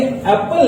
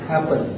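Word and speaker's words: apple: Rule ये है कि जब रिपीटेशन ऑफ कॉन्सोनेंट्स होता है तो साउंड प्लेन रहता है, साउंड सिंगल रहता है। इसका क्या मतलब हुआ? इसका मतलब ये हुआ कि ये एप्पल नहीं है, इसका करेक्ट प्रोनाउंसिएशन ये होगा एप्पल। ये एप्पल पापा, क्योंकि पी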